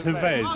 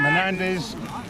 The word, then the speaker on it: Havez: His name's Havez. His first name's Havez. You got his name wrong, didn't you? He's got his name wrong on the first stream. I called him Hernandez.